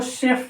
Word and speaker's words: chef: जैसे CHEF है, इसको चेफ नहीं पढ़ते, इसको शेफ पढ़ते हैं।